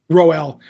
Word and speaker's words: Rowell: I'm the Rainbow, how do you pronounce her last name so I don't get it wrong? Rowell.